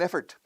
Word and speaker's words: effort: Mi pronunciación es casi esfuerzo. Effort. Como si fuera una E-R, no O-R.